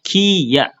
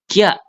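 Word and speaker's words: きゃ: Ini bukan dibacanya kiya. Ki tetapi Kya Kya ya Kya disambung Minasan ini jadi satu huruf ini tuh Kya Kya. Oke. Jadi dibacanya satu huruf bukan ki ya. Kalau kita bacanya ki ya itu kan dua huruf minasan. Kalau ini kalau ada ya yuyo kecil dia dibacanya satu huruf kia.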